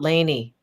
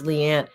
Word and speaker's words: Liane: have to keep saying it's not it's not Lany it's Leanne people call me Lane Lany Lian Lian it's